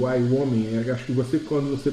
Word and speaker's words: Wyoming: Não é o Maine, tá? É o Wyoming.